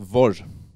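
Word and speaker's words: որ: This word in Armenian is pronounced Vor.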